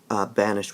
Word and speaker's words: banished: Back then, banished would be pronounced banished, to give a three-syllable kind of pronunciation.